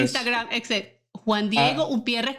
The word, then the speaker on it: Humpierres: Juan Diego Ah, Umpierres con H, señores, no sin H, pero no se pronuncia porque no estamos estamos en Estados Unidos, pero no estamos a sí.